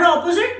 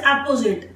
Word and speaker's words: apposite: Not opposite, the word is apposite.